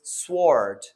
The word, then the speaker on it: sword: word and that is sword sword now s-w-o-r-d most of the students they pronounce it as sword but here the w is silent and that's how it's